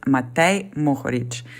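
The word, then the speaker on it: Matej Mohorič: So first name and the last name, it's Matej Mohoric.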